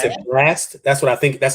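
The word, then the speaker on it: Blxst: think you pronounce it last that's what i think that's how i think you pronounce it b-l-x-s-t pronounced blast and then of course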